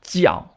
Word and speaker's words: 酵: Let’s first explain that the “fermentation” we just heard about fermented xiào is the pronunciation in Taiwan, and the pronunciation in China is fermented jiào , so if you